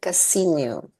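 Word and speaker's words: Casiño: Her name is Asia Casino. And I'm pronouncing the Enye this time because it's in her name.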